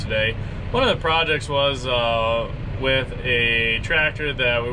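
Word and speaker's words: WAAS: By default, most GPS systems are set up under what we call WAS, which is spelled W-A-A-S.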